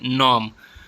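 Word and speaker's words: gnome: doubt B silent है नॉम नॉम इसमें जी silent है नॉम जो है वह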